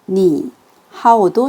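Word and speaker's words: 你好: 삼성이 이렇게 두 개가 붙었을 때 앞에 있는 삼성을 정말 자연스럽게 이성으로 바꿔서 발음을 해주셔야 돼요.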